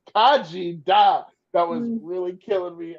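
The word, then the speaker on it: Khaji Da: on reading it as Khadijah, like Queen Latifah's character from Living Single. I kept on reading Khadijah, and then I had to flip the last two syllables. Kaji Da.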